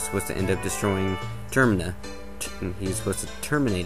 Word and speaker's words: Termina: insult anyone but um termina i'm pretty sure it's pronounced termina as in it's referring to terminate as terminate means to end as in what you